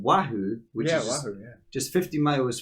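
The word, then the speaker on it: Oahu: about her she's from a hawaiian island called wahoo which is just 50 miles from kawaii i wrote down the pronunciation she's 15 hours from kawahi which is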